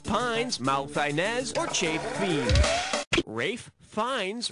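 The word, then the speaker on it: Ralph Fiennes: malz or cha Bei Rafe fines rhymes with safe Pines yeah he was great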